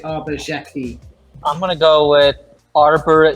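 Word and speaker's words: Xhekaj: I'm going to say Arbor Jackie. I'm gonna go with Arbor Zekaj. We have ABSP getting remarkably close. This is pronounced Arbor Jacki, not Jacki. Jacki, a hard J.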